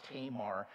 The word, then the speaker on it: Tamar: So this morning I want us to spend what time is left talking about the story of Tamar, or Tamar is the way you may have learned how to pronounce her name.